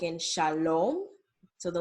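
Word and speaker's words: שלום: When you see the letter O, it's going to be pronounced as O, like in Shalom.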